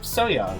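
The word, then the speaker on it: So-young: Because the Young and Young, it's like the same syllable in Korean. It's like, you write it, like, what's written there can be pronounced either way.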